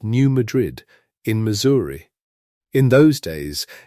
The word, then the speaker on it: New Madrid: It is New Madrid with the weight landing hard on that first part, New Madrid, a plain American frontier pronunciation for a plain American frontier town.